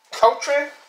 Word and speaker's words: Cochran: I'm going to mispronounce names. Let me see. Well, it's C-O-C-H... R-A-N. What's that? Cochran?